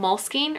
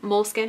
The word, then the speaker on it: Moleskine: This is a little notebook from Moleskine, or Moleskine, however you want to pronounce it.